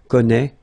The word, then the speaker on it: connaît: Well, you pronounce these three forms the same way. Okay, connaît, connaît, and then connaît.